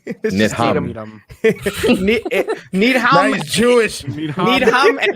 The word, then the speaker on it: Needham: Yeah, and I then you say Needham. Yeah, you pronounce the H. Needham.